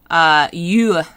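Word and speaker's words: Yue: Yu, like Y-U-E, but with an E on the end, it kind of has like a sound. So it's not just you, like Y-O-U, it's more like yu, wan yu.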